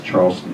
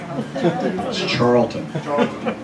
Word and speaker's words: Charlton: well in my Boyhood hero who trade Moses Charleston pest your Boyhood hero and you mispronounce his name said it right Charleston H charlon H it's Charlton charlon Charleston is a dance flapper something I